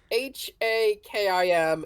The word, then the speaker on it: Hakim: strong Southern accad uh it's probably more like hakeim spell that h a k i m it's an Arabic name so it's probably Hakim I'd imagine oh that makes